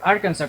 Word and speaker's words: Arkansas: la ciudad de Searcy, Arkansas, o Arkansas, como lo pronuncian ellos.